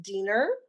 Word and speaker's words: Diener: say uh is uh my last name is actually pronounced dinner and a lot of